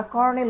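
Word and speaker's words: Colonel: তাদেরকে বলা হয়তো কলোনেল, যেটাকে তারপরে আমরা কর্নেল উচ্চারণ করে থাকি, কলোনেল।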